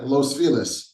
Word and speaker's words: Los Feliz: But it's a little bit like, yeah, Los Feliz is not how you say that word.